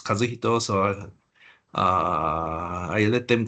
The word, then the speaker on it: Kazuhito: And I'm Kazuhito, or the Americans. Only a couple of pronounce Kazuhito, so I let them call me Kaz.